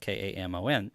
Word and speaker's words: Kamon: And there's a place in Israel it's a town that's spelled Kamon, and so they thought, well, that could sound like Cayman Islands, similar, but it would be spelled differently.